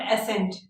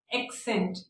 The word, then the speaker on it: accent: एक्सेंट, वे of pronouncing word, जो मैं अभी आपको सिखा रही हूँ, नॉट एसेंट, एक्सेंट, ACCENT, एक्सेंट।